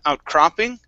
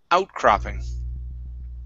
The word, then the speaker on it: outcropping: this word here okay instead of outcropping okay the stress is at the very beginning outcropping outcropping okay very good um